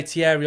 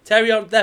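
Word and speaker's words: Thierry: I get that you do you say Tierry. I get it but you're putting too much you're trying to make him you're trying to sound French. Yeah. Stop doing it.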